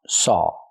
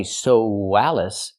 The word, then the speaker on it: saw: I saw not I sois we don't pronounce the w there's no W sound in it it's I Saw Alice